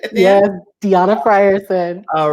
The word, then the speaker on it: Deona: studio with me deanna fryerson and am i pronouncing it right yeah deanna fryerson all right i'm so glad to have